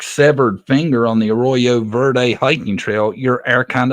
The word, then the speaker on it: Arroyo Verde: Arroyo Verde.